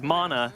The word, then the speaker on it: mana: all the time, is it's mana, not mana, because they're two different things, right? M-A-N-N-A is the bread from the gods, and that's mana. The magical resource is mana, M-A-N-A.